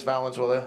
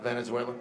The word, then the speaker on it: Valenzuela: Valenuela. Uh, not Venezuela. That's a common misprononunciation.